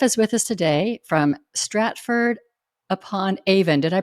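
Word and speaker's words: Stratford-upon-Avon: of forgiveness Jeff is with us today from Stratford upon Avon did I pronounce that right you did and you're in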